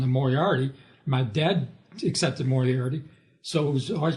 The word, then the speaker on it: Moriarty: My dad accepted Moriarty, so it was always pronounced that way. So you lose the art when you say Moriarty. You get the air, but you don't get the art.